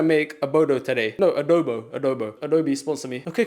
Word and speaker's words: adobo: Adobo.